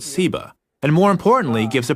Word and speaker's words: Seba: related that has just a different s sound seba and ugly explains that Sheba's